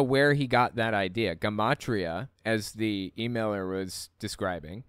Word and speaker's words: gematria: You're talking about gematria, pronounced with a hard G. Yeah, I was pronouncing it gematria originally in the video.